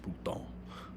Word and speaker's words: Bruton: My last name is French too, but it's pronounced Bruton, so it's a little different.